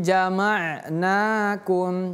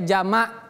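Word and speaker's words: جَمَعْنَاكُمْ: 1 2 3 hadza yaumul fasli fasad masuk li fasli jamnakum jamnakum ingat ini huruf ain jangan kita baca jamak tapi jamak hadza yaumul fasli jamnakum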